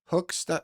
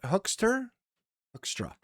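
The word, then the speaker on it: Hoekstra: Pete Hookster? Hookstra.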